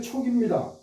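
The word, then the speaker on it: 屬: 요게 촉여 장문 이기지 이게 보통 우리는 속이라고 읽잖아요. 이거를 속 어디에 소속되어 있다. 금속이다. 모 속 무리 그런 뜻인데에 뭐뭐를 잊는다 부탁하다 그다음에 권하다 사람을 모으다 여러 뜻이 있어요. 그럴 때는 촉이라고 읽어요.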